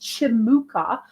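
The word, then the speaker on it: Cimuka: I um use the chimuka it's it's pronounced chimuka because I believe it comes from Turkey but it's it's spelled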